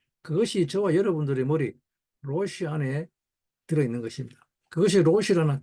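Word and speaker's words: ראש: 로시라고 그러죠, 로시. 근데 단순한 로시가 아니죠. 히브리어 자음을, 로시는 발음하기 아주 어렵습니다. 혀를 똘 말아가지고 끝을 입천장 뒤에 안에 깊숙이 넣었다가 로 해야 됩니다.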